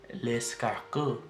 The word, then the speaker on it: l'escargot: So you pronounce the snails in French as l'escargot, l'escargot, l'escargot. So the R, where you hear after the A, scargot, scargot, is pronounced with kind of like a phlegmy, like, you know, you have like phlegm stuck in your throat, and then you're kind of like saying the G sound too, like ska, ska, skako, skako, skako.